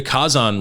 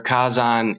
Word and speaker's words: Kazan: Well, for the listeners out there, Kazan is the romanization and pronunciation of volcano in Japanese. So Kazan is volcano or fire mountain, as it would be read in kanji or even in Chinese context.